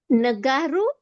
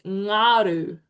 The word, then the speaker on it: ngaru: Nagaru. Oh, well done. Very, very close. It's ngaru. It's a bit of a trick. The phonetic spelling sort of throws you off.